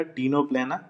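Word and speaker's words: Ctenoplana: इसके अलावा एक और जो एग्जाम्पल दिया है टीनोप्लेना, सी साइलेंट रहेगा, टीनोप्लेना।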